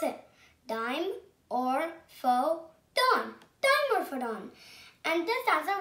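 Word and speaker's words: Dimorphodon: that i'm going to tell you how to pronounce it dime or faux tone timer photon and this answer was a tiny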